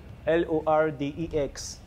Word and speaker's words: Lordex: name is loex less yeah how do you spell it L O R D ex oh lordex oh lordex lordex who's who's your like um